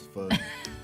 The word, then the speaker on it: pho: I keep saying pho, but I say it wrong. It's pho.